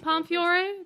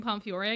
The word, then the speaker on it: Pomfiore: I always forget the E in Pomfiore, because when you pronounce it, the E is silent. But when you spell it, it is there.